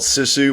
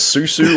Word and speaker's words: Sisu: yamari hellander and uh the film is called sisu which really isn't that hard to pronounce uh it's just it's you just pronounce it phonetically but I think your problem is is you couldn't figure out if it was uh you couldn't remember you didn't know if it was Susu or suzu or or says who